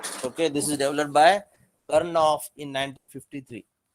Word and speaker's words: Karnaugh: new topic that is KARNAUGH, Karnaugh map. You will pronounce this as Karnaugh map, NAUGH, Karnaugh map, which is called in